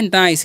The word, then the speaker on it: nice: यहाँ पर आई का उच्चारण आई होगा, क्योंकि ये देखिए आई वोवेल है और फिर से सी कॉन्सोनेंट है और लास्ट में ई जो वोवेल है, तो पहले वाले वोवेल का उच्चारण होता है इस तरीके से अगर मिले तो, ठीक है।